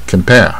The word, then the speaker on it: compare: 是这个卷舌卷一半 compare 啊，这个 r 有点像